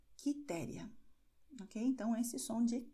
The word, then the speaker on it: Quitéria: e também QE, QI, mas no caso de QE, QI, a letra U não vai ser pronunciada, ela somente vai ser escrita, o som será de K, como nós vemos em Carlos, Marcos, Custódio, Henrique, Quitéria.